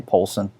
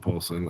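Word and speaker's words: Paulsen: Would Rob Paulson, do you say his name Paulson? Yakko. Rob Paulson? Yeah, okay.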